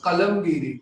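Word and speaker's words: قلم‌گیری: The word is qalamgiri, yani drawing. Because Iranis don't say, they pronounce the qalam very soft, qaf very differently.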